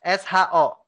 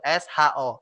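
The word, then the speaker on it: ص: Jadinya bukan hanya so, tapi so gitu ya. So. Ya, jadinya kita bisa melafalkan so dengan sempurna, yaitu SHO.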